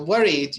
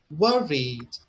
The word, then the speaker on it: worried: one we need two and the first one is louder so worried your analysis was right worried what read so it's clear that the first one is louder stronger the same thing with